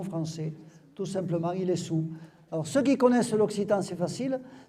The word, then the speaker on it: Saül: alors allez comprendre ça on écrit Saül et on prononce il est sous tout simplement parce qu'en occitan c'est le mot sadul vous enlevez le dé au